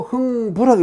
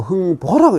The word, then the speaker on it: 흥보: 이렇게 쓰기도 하고, 마찬가지인데, 이렇게 써도 흥부라고 읽지 않고 흥보라고 읽었어요. 그래서 뒤에 사람들은 흥부라고 읽는 경우가 많았죠.